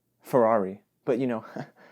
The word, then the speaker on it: Ferrari: I mean, I've always said Ferrari, but you know, the Italian in me, I should probably pronounce it a little differently, right? Like Ferrari.